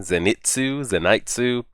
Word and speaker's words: Zenitsu: guys told me that we do pronounce the I in his name, Zenitsu.